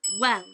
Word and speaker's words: well: Next, with the word well. I've noticed a lot of Vietnamese learners make the same mistake with this word. They say it like gel, but it's not the g sound. it's the W sound.